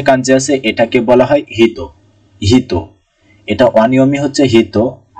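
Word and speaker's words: ひと: প্রথম যে কাঞ্জি এটাকে হলো হিতো, হিতোর কাঞ্জি।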